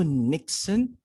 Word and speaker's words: niksen: Yeah, you might say it's called Nixon. I thought about that, but the way they pronounce it is nix.